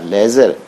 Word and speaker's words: ledger: LEDGER, इसमें D silent होता है बेटे, ऐसे लिखना नहीं होता।